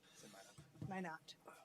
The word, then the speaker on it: Minot: Is it Minot or Minot? Minot.